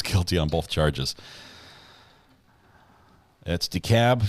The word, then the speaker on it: DeKalb: sure DeKalb is pronounced DeKalb DeKalb County no l the L is silent Larry Millette case what's